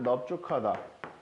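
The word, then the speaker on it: 넓죽하다: 또 하나는 넙죽하다. 이렇게 두 단어에서만 넓은 비읍으로 발음한다고 생각하시면 편합니다.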